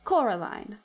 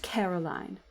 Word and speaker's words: Coraline: They keep saying Coraline, not Caroline. Not Caroline at all."